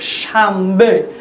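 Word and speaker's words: شنبه: রয়েছে সেটা হচ্ছে নুন, কিন্তু আমরা উচ্চারণ করছি মিমের মতো শামবে, উচ্চারণ করছি কি শামবে, শামবে মানে শনিবার। এখানে মিম উচ্চারণ করছি কেন, তার কারণ হচ্ছে নুন সাকিনের পরে যদি বা হরফ আসে তাহলে বাকে পরিবর্তন করে মিম দ্বারা পরিবর্তন করে উচ্চারণ করা হয়। এটি আরবি তাজবিদের একটি নিয়ম, সরাসরি ফার্সিতে ব্যবহৃত হয়, এই জন্য এই হরফ এই শব্দটাকে আমরা উচ্চারণ করছি শামবে।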